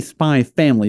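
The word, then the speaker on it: Spy × Family: spy spy x family well it's technically spy family but spy x family is the the actual title yeah well that's why i said spy x fan so how does that work anyway why because there's a lot of the x titles that have x in them like that the x is just silent so but why is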